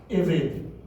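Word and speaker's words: עבד: a do Bic word the first syllable is I am silent with the e and the second syllable is B soft pronunciation V pointed with a SE followed by Dar evid evid the Hebrew word for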